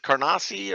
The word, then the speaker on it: Canarsie: Was it Carnassi, or how do you say Canarsie, it?